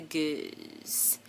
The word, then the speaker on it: Gueuze: beer we're gonna try is the goose that's french and i am pronouncing it correctly because je professor um